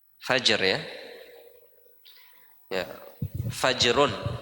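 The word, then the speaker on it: فجر: Bacanya fajrun ya. Bukan fajar. Fajar P ya Indonesia itu fajar kalau sudah berubah jadi orang Indonesia. Kalau orang Arab ya fajar. Hm. Fajar kalau pindah ke Indonesia jadi fajar.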